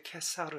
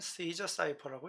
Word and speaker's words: Caesar: 이거 이탈리아어로는 이제 캐사르 사이퍼죠. 캐사르 사이퍼인데 영어로는 Caesar cipher라고 읽는 겁니다.